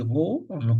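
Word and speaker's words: ρ: noté r ça c'est r on prononce ro c'est la masse divisé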